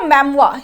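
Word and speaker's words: mémoire: Biblio मैमवा, इसको मैमवा pronounce करते हैं।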